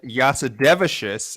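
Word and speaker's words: Jasudavicius: oh say it oh his Fright Night Time is official there's another Canadian Jasmine yasudevishis as she told uh air Hawaii that is how it's pronounced and that is how I will pronounce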